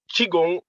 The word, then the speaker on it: Qigong: Qigong. Qigong, okay, Qigong master.